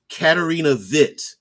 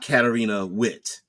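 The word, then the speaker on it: Katarina Witt: kid I remember um pronouncing the W like a V and then I I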